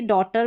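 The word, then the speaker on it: daughter: Same to same ऐसे ही डॉटर में है डॉ और टर। ठीक है? डॉ ऑटर इतना ही पढ़ा पढ़ा जा रहा है और जी एच यहां पर साइलेंट है।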